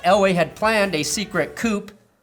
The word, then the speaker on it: coup: the fact that Elway had planned a secret coupe pronounced coup for some reason that involved firing vance